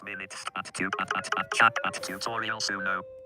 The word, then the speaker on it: Suno: 1 hour 28 minutes at chat at tutorial Suno. It's pronounced like Sonics, but it's spelled with the letter #1.